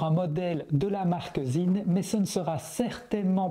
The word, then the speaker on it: Sinn: Vous pouvez bien sûr dire sin à la francophone, mais vous risquez de vous faire reprendre par un puriste. En allemand, les noms et les mots qui commencent par un S suivi d'une voyelle se prononce Z. La pronciation d'origine est donc zin.